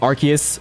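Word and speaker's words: Arceus: I remember using Archus as a kid, feeling really weird to hear it. it's Archus or Arcus in the movie and now I'm used to both.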